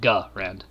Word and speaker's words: Garand: So I say Garand. Like Grand, but Garand.